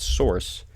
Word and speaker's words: src: a closing tag it uses an SRC attribute usually pronounced Source inside of there we